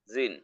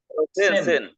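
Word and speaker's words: zehn: হুম জেক্স আহ নয়েন জিন নট জিন সেন নয়েন জিন সেন জিন না আমি উচ্চারণ করি কিভাবে সেটা খেয়াল করেন সেন সেন হ্যাঁ উচ্চারণ হলো সেন নট জেন সেন জোয়াই এটা জোয়াই না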